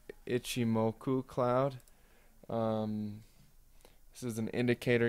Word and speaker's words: ichimoku: the ichimoku i think is it g moku is how it's pronounced let me go ahead and see if that's right yeah ichimoku cloud this is an